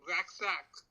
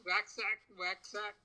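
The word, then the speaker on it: Waxak: So, in the Mayan base 20 system, 8 is called, pronounced Waxac. So it's Waxac, and 20 is Hunkal.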